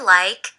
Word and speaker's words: like: for Wild Animals I like to Watch Animals I like to Watch Animals Like เห็น ไหมม คะ K E ตัว E ไม่ ออก เสียง ออก ที่ นะ คะ